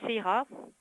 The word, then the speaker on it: Seira: Voilà, je veux dire, pareil, tu te retrouves dans un lycée UP, Sarah, enfin, qui s'appelle Seira, au Japon c'est comme ça que ça se prononce.